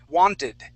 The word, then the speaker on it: wanted: it nice okay now wanted all right so in this word um we're actually going that t is going to sound like a d okay as well as the Ed D so um it's we're